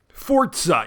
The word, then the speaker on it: Forza: There's no T in it. Forza. Yeah, that's how you pronounce it.